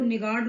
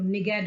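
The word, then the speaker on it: niggard: निगेट, देखिए इसको निगार्ड नहीं पढ़ना है आपको, निगेट बोलते हैं, निगेट।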